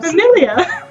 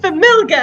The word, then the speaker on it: familia: can't read because I'm familiar. Shut up, okay? I'm gonna name it Familga because it sounds cooler. Familia? What the hell? Familia. It's Italian.